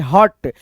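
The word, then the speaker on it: hut: फन, मन, ऐसे करके, जैसे हट, एच यू टी, हुट नहीं पढ़ना है, हट पढ़ना है, यानी ह में अ का ध्वनि संयुक्त है, मिल गया है, ठीक है, तभी तो हम उच्चारण कर रहे हैं पूरा संपूर्ण ह, उसके बाद से ट, हट।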